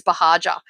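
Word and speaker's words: Buhagiar: online but my last name is bahaja okay and that is not an easy when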